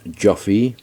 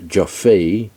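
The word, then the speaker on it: Joffé: And last but not least, I purchased this wonderful box set from Imprint, directed by Roland Joffe. I first thought that it was pronounced Joffe.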